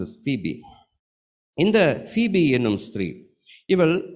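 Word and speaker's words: Phoebe: ஆங்கிலத்தில் her name is pronounce is ஃபீபி.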